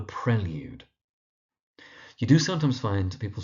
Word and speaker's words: Prelude: The mispronunciation you hear is people calling it The Prelude, but it's The Prelude.